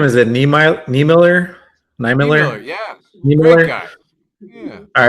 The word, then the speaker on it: Niemiller: How do you pronounce his last name? Is it Niemiller? Niemiller, yeah.